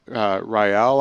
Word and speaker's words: Rael: Rael, I believe, is how you say her name.